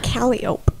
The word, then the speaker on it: calliope: What's a calliope? Calliope. I knew that. That's how I pronounced it last time.